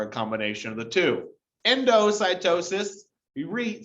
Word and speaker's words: endocytosis: combination of the two endocytosis you re say that i was just like to pronounce it like into cytosis okay this is where